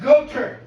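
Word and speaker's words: Goethe: but here's my point go with is actually pronounced goer so like anybody who disagrees without can go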